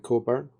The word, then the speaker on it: Cockburn: about her keystone um the cockburn name is quite common over here but we pronounce it coburn what happened to the